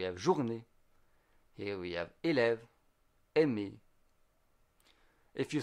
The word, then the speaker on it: élève: So élève has two syllables, é and lève.